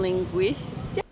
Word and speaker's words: linguiça: So for breakfast, we wanted to try the famous pão com linguiça. Yeah, Linguiça? I may not be pronouncing that right.